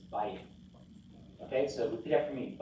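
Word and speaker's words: בית: And this one, the accent is on the bait here. See that blue in the next one? He's telling us the accent's on the first syllable. It's not vayit. That just sounds funny. It's bayit.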